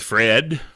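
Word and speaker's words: Phred: For those of you that aren't familiar with Fred, P-H-R-E-D is how it's spelled.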